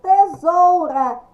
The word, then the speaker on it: tesoura: terra não tesoura isto tesoura escrita com s pronúncia com z a bula zula mão